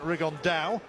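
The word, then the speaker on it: Rigondeaux: And he's Tete's talked about fighting Rigondo or as he's correctly pronounced with the uh Spanish accent, Rigonda.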